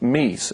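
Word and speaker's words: Mii: But online, though, you've got a whole lot of me's, as they're called. M-I-I is how it's spelled. So it's a me.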